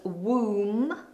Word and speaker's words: womb: The baby lives very comfortably inside the woman's womb. Womb. No B on the end, it's a silent letter.